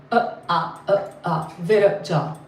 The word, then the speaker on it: Viraja: Viraja, that's how they But the Sanskrit doesn't have syllable stress. Like in English, you have to have a syllable stress. Sanskrit is just Viraja. Not Viraja, not Viraja, Viraja.